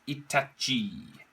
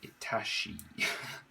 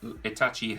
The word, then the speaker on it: Itachi: be doing naruto character itachi or as i like to say itashi i can't pronounce it i always say itashi um anyway landscape orientation